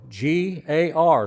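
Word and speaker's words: γάρ: G A R is how it's spelled or pronounced in Greek.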